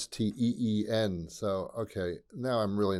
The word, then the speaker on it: Springsteen: I thought it was Stein. I thought he was, Jewish or something. But he's not. It's Bruce. It's Steen.